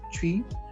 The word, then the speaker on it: Twi: And in terms of the language, so in Ghana, the most popular language is Twi, which is spelled Twi, pronounced Twi.